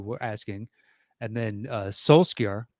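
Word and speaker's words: Solskjær: asking and then uh solskir is that how you pronounce it so soul shire how the hell do you get that there is you can you can pronounce it with a a slight k inflection but i'm not i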